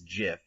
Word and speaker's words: GIF: go either way so jeff giff do you say jeff what do you say again i say gif however the webster's dictionary and the creator both say and swear that it's jif which i say the